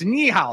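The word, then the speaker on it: 你好: just hired him so okay so knee how okay it's knee how so the next time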